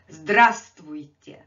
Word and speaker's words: Здравствуйте: Здравствуйте. Здравствуйте. And here I have this letter V in a parenthesis, because again, this is kind of silent letter.